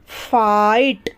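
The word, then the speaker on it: fight: टी नाइट उसी तरीके से एफ आईजी एचटी फाइट क्या पढ़ते हैं फाइट पढ़ते हैं क्लियर हुआ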